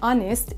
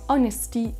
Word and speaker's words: honest: Pour info, il y a seulement 4 mots en anglais où il y a un H en début de mot et ils ne se prononcent pas. Ce sont les mots hour comme l'heure. On a aussi honest et tous ses dérivés comme honesty, etc. Et on a aussi le mot honor. Honor, honest, hour et un dernier mot